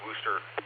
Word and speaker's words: Worcester: It's funny uh in Rocky River in part pronounced Worster Road, but city of Worcester.